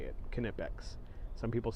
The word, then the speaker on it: Knipex: I did actually hear a manufacturer say it's pronounced knipex uh so that as far as I know that's how I say it kipic some people say Knex but kipic um it's an adjustable uh crescent